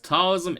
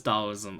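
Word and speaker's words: Taoism: me all right so how do we pronounce that oh CU talism is dollism okay uh okay where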